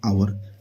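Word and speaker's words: hour: यहाँ पे लिखा हुआ आवर, हावर लिखा है लेकिन आवर पढ़ेंगे एच साइलेंट हो जाता है, तो यहाँ पे क्या लगेगा?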